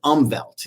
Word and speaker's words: Umwelt: I read tons of books on neuroscience, and the word is umwelt. It's spelled UMWELT.